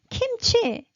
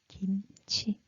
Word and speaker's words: kimchi: and that kimchi okay you're thinking kimchi yeah you're wrong no because Korean people no one pronounce kimchi we will pronounce kimchi and then when you